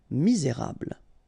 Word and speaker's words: misérable: Okay, don't insist on the final E here. You get this bl sound at the end. Okay, misé, et because you've got this accent aigu, rable. Misérable.